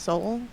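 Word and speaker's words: Seoul: I think it's pronounced soul, but I might be wrong.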